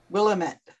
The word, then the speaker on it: Willamette: river we'll am it willamette willamette damn it oh that's an easy way of remembering it huh it's the brunette rhymes with damn it with lamit oh me